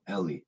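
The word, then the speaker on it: עלי: Is it Eli or is it Ali? The Ayin Lamed Yud word. Just want to see what he says. I hate Eli. pronouncing things wrong. With a segol, Eli.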